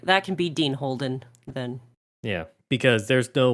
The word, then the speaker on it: Holden: want to call it uh fine that's Dean Holdings Holden we'll do it holding sorry Holden h o l d n get it right